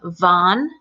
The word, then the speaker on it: Vaughn: E and vo n the name Vaughn the V the V bond you can see how my lips in t they're touching and the number one one